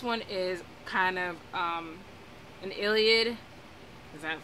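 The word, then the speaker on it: Iliad: Miller and this one is kind of an Illiad that's how you pronounce it retelling so basically if you know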